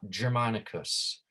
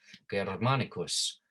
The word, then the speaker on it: Germanicus: right remember not ja there's no ja sound with the with this letter right it's not germanicus right in english we